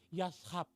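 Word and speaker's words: יָשַׁב: Dalam bahasa Ibrani, bersemayam itu artinya yashab. Maaf, lidah saya kurang fasih mungkin mengatakannya. Tulisannya Y-A-S-H-H-B. Yashab, kurang lebih bacanya seperti itu.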